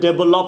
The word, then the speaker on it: develop: ডেভেলপ, I want to ডেভেলপ the country, I want to ডেভেলপ ইন ইজ ডেভেলপ, ডেভেলপ। হালকা ভয়কার ভে বলতে পারেন, ডেভেলপ। ভো না, ভয়কার ভো হবে না, ভে হবে, ডেভেলপ।